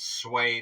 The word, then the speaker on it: Swanee: the live chat so now we know it is swy is the proper way to pronounce this I appreciate all